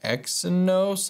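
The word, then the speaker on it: Exynos: the phone which acts very differently than the x and nose i believe is how you say it chipset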